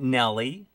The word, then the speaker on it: Nelly: But Nelly is like rhymes with jelly.